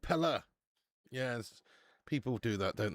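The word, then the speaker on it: Pelé: But it's actual the way it's supposed to be pronounced is Pelle. More like air at the end, like Pelle. Pelle.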